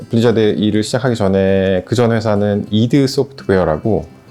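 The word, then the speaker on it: id Software: 일을 시작하기 전에 그전에서는 이드 소프트웨어라고 스펠링은 ID 소프트웨어라고 쓰는데 발음 이드소프트웨어라고 하고요 텍사스에 있는 익소프트에서 한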